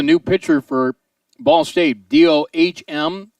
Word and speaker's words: Dohm: pitcher for ball state dohm but pronounced dome in there now runner